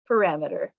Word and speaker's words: parameter: to say your word correctly in this case parameter